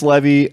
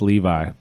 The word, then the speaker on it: Levi: So I made the peasants levy, and then I finished a walker for that world as well. I believe it's pronounced Levi.